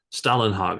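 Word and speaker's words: Stålenhag: the the Simon uh Stalin hog I guess is how he pronounces it uh those three books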